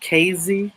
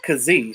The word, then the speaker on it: Kazee: So said try not to be rude, but it's pronounced KZ. Okay, well I didn't know. Everybody kept everybody kept saying Kazee, so I don't know.